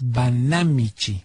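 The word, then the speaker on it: Banámichi: del municipio de banamichi Así es banamichi esa es drujula la palabra con acento en la a banamichi tomaron la alcaldía de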